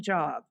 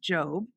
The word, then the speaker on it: Jobb: His last name is pronounced Jobb, not Job.